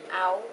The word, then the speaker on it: hour: so for example um what sound does hour make like i'm going to school in an hour what's the sound at the beginning of that um ow yeah so it's not a vowel sound or a consonant sound sounds like a vowel right but it starts with an h so what would you